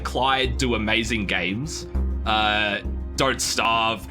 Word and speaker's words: Klei: So this is a deck builder by Klei. Klei do amazing games. Don't Starve, Oxygen not included. Klei rhymes with play.